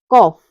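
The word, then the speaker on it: calf: है अगला रूल है यदि किसी वर्ड में एल के बाद एफ आता है तब भी हमारा क्या होता है एल साइलेंट रहता है जैसे ही है कॉफ और हफ इसमें क्या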